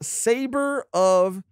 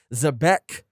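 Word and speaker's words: Xebec: mark yulip who says the name of blackbeard's ship is sabre of uh and some people corrected our pronunciation zebek and rock's full name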